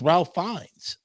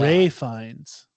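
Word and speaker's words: Ralph Fiennes: I haven't seen it it's Ralph finds oh my God Ray fines oh really yeah it's Ray he spells it weird but it's Ray fines Oh I thought it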